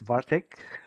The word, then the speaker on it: Bartek: The name is pronounced as Bartek.